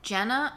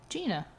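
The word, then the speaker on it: Jeana: it that Jenna uh no Gina Gina spelled like Jenna that's all I'm gonna say all right Jenna Gina wait she's supposed to be like the word Jean uh like that's why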